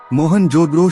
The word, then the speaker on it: मोहनजोदड़ो: मोहनजोदड़ो शब्द का सही उच्चारण है मोहनजोदड़ो और सिंधी भाषा में इसका अर्थ है मुर्दों का टीला।